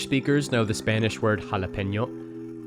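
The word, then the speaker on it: jalapeño: That squiggly line called a tilde is a diacritic mark, as it tells speakers to move from n to ny. Without that diacritic mark, the word would be pronounced jalapeno.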